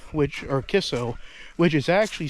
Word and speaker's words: KICCO: now as I mentioned before the town of Kiko which or kisso which is actually spelled k i c c o it's actually pronounced K you know as you're saying kisso so the spelling says K I C but